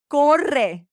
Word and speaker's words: corre: Corre. Double R's, roll your R's.